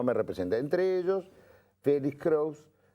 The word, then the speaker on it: Crous: Entre ellos, Félix Kraus, que es Kraus con catalán. Sí, ¿cómo se escribe? Catalán. Bueno. ¿Cómo se pronuncia? Cruz. Sí, como más te guste.